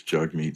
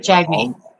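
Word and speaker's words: Jagmeet: Jug Meat Singh, It's Jug Meat Singh. It's Jagme Singh. Really happy you've moved to Jug Me Singh now. No, he's asking you to pronounce his name correctly. Jug, not Jagme.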